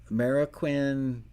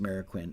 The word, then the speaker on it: Marroquin: know um the manny marroquin delay plug-in i think it's pronounced mariquin m-a-r-r i believe i